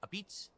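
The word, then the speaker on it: apizza: It's spelled a pizza, but it's pronounced a pizza.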